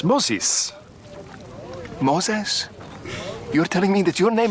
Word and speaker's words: Moses: Like Moses.